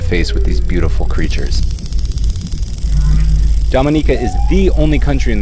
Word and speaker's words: Dominica: boom we call it Dominica yes the nature I love the Caribbean it's rum punch time oh we call it Dominica o-m-i-n-i-c-e it is not Dominican Republic it is pronounced Dominica and it's situated between